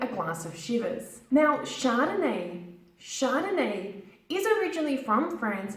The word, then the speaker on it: Chardonnay: would you like a glass of Shiva's now Chardonnay Chardonnay is originally from friends but it is